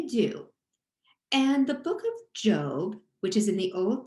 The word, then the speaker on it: Job: job job is spelled j-o-b which most of us would pronounce as job but if you really want to show that you're smart about the bible you'll say job when you see that